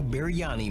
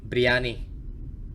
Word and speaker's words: biryani: from the youtube channel biryani man and his friends set out to first of all okay he pronounced that wrong as somebody with indian heritage briyani briyani man explore an abandoned house